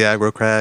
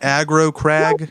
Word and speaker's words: Aggro Crag: a piece of the aggro crab they have it on ebay am i saying it right aggro crag yes okay aggro crag like you're aggro aggravated see i didn't know